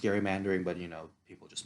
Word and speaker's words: gerrymandering: was named after him so it should be pronounced gary mandering but you know people just mispronounced it as gerrymandering so whatever i mean